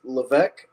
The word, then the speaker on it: Levesque: of everything but uh it's actually pronounced LC um LEC a good